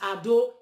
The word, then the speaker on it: Edo: That word Edo, the real pronunciation is Ado, the bastardized, the cowardized generation, which is Oba of Benin.